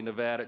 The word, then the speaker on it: Nevada: So we always say Nevada, and now it's supposed to be Nevada.